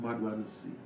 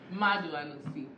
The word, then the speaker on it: Madwanusi: And my name is Madwanusi. Madwanusi. Madwanusi, that's how to pronounce it.